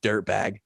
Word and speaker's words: DUERTBAEG: and then I typed in his last name, and it's spelled DUERTBAEG, like Duertabage. And the sound clip for it is just dirtbag.